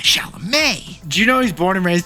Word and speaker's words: Chalamet: Besties, Jack was looking in the mirror before the pod going, Chalamet. Not Chalamet, Chalamet.